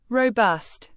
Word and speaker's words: robust: Robust. Pronounce it as robust. Say row, like rowing a boat, then bust, like to break something, emphasizing the second syllable.